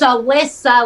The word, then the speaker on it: Alisa: It's Alisa, like Melissa, no M.